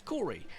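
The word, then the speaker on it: Kori: Well, it's not Corey, it's Corey. And for those that still go, I know Corys that are spelt with a C.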